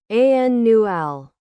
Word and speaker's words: annual: to note is that when you use annual in this way the stress is on the first syllable a new L and not on the last one like some other adjectives